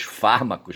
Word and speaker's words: fármacos: Os fármacos, na verdade, é uma palavra proparoxicita, não certo? E o cara pronunciava é paroxito, né?